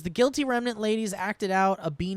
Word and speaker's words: Guilty Remnant: The Guilty Remnant. Remnant. Yeah. Yeah. Yeah. I think I've been saying guilty revenant at points.